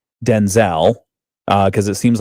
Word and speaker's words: Denzel: names are actually pronounced Denzel. Denzel. Denzel. Oh, heavy emphasis on the den. Very low on the Z.